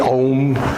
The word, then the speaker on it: Om: Om. It's actually 3 syllables. Aum. A-O-Um.